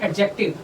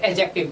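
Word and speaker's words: adjective: तीसरा है एडजेक्टिव। ठीक है, इसको डी इस पे साइलेंट रहता है इसलिए डी हम बोलते नहीं, इसको बोलते हैं एडजेक्टिव।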